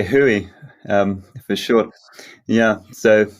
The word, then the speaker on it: WHOI: about wh oi yeah so w-h-o-r we've always said we've got we pronounce it where you say hui um for sure yeah